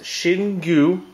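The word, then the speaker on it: Xingu: say this third beer um so this is pronounced shingu uh it's a beer that's in made out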